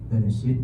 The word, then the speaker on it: Bereshit: Dia baca pada mulanya, bukan begitu bacanya. Bacanya begini, Bereshit bara Elohim. Langsung berhenti di situ diskusinya.